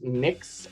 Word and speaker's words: Mx: your strength what handle is mix uh as in the uh gender neutral honorific um how do you